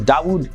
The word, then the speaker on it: Dawud: as well the influencer at number two is dawud kim dao kim he's a famous korean youtuber